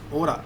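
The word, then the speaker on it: hora: We write it as H-O-R-A, but we pronounce it Ora. H is not pronounced, only this part is pronounced.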